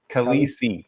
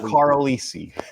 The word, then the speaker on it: Khaleesi: Khaleesi. Khaleesi, not Carlisi.